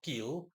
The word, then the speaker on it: Khil: see it for yourself Ke or kill. I'm simply going to use the former. So Kil uh that's spelled obviously K H I L.